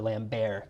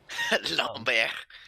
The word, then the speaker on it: Lambert: I believe it's actually pronounced Christopher Lambert because he's French. Lambert. Lambert.